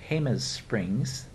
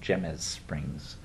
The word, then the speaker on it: Jemez Springs: post office box 307 Jemez Springs now that doesn't sound like it but it's spelled with the J it's looks like gems Springs Jemez Springs New Mexico 87025 call